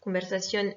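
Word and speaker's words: conversación: syllabe accentué combelles stationnent conversation est un mot qu'il est accrochée sur la dernière syllabe puisque comme pour tous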